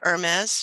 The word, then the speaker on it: Hermes: Hermes, like the scarves and the like the god.